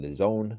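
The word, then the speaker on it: DAZN: Okay, that's gonna be on the Zone. I didn't know how to pronounce that till like recently. The Zone. I thought it was just called Daz, and I don't even know.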